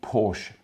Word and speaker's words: Porsche: Now, this news definitely caught my eye because we've been hearing a lot about the Porsche Taycan.